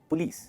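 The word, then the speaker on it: police: The right pronunciation is पुलिस। क्या है? पुलिस। इसमें जो लीज है ना उस पर स्ट्रेस होता है, पुलिस, ये सही प्रोनाउंसिएशन है इसकी।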